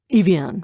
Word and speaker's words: Evian: up at her father Evian rhymes with avian we thought it was